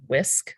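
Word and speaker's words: WSCC: referred to as whisk it's w-s-c-c but it's pronounced whisk like a whisk and that's the image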